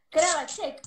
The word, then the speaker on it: Kravacek: Él es Carlos Alberto Kravacek, ¿no? ¿Así se pronuncia?